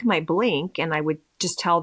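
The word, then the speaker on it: Blinc: And I was really excited for it because I have a tubing mascara that I love that's made by a company called Blink. It's spelled just like the word blink, but instead of a K at the end, there's a C.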